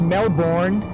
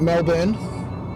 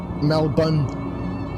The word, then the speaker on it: Melbourne: It's not pronounced Melbourne. Just drop the R from that. Melbourne. Melbourne.